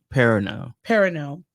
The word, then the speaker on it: Perrineau: Harold Perrineau.